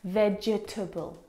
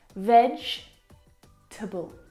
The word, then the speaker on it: vegetable: syllables in this word, vegetable. But there's not. There are three syllables. Vegetable. Can you see the syllable that we completely forget? The e. Vegetable. We don't pronounce that second syllable.